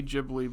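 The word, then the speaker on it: Ghibli: us better than ji I used to say jibli but then I because the I believe the Italian plane is pronounced jibli which is what it's named after but I think the guy who F found it literally says gibli I've been trying to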